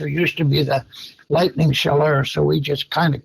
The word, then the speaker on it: Chaleur: How do you how do you pronounce it? Is it Shaler the what the what the team goes by? Yeah, Sheller, which is that's that area is called the Bay of Sheller.